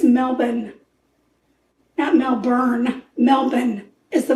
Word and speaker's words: Melbourne: and that's how they talk I think it's Melbourne at melbour melbour is the way they pronounce it I'm pronouncing it the way it's spelled don't do that grammar police Melborn okay or Melbourne okay anyway before I was